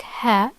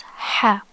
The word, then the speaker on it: ح: It's not like ha, it's ha, ha, okay?